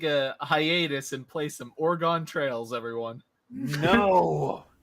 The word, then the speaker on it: Oregon: Washington State and Oregon oregano no no how to pronounce it again correctly that not Oregon it's not two sentences it's three it's three syllables Oregon Oregon it's Oregon yeah you're saying it the